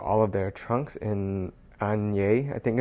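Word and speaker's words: Asnières: And AS is where they make all of their trunks in Anye, I think it's pronounced.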